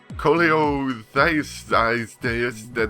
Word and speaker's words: Cholelithiasis: Cholelithiasis, that's how you say it, actually.